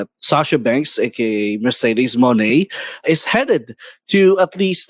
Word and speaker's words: Moné: It's not Monet kasi it doesn't rhyme with Janelle Monet. Apparently, it's Moné. So, Moné. Okay. Yes, because of that right. French E thingy. I don't know what it's called, but it's Moné, not Monet.